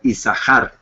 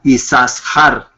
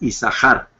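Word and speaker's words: יששכר: por eso es que el nombre se pronuncia como si fuera una sola Shin sí como isar y no yasar podríamos usarlo también isar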